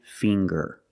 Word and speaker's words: finger: ginger very good and finger finger we see the nasal um sound plus the hard G the G um finger